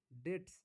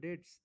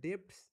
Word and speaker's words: debts: এবার একটু লিখেন, এটা লিখে নিন, লিখেন ব্যাড ডেটস, DEBTS, ডেটস উচ্চারণটা হবে ডেটস, কিন্তু মনে হচ্ছে না ডেপটস, ওর উচ্চারণটা হবে ডেটস, বুঝছেন?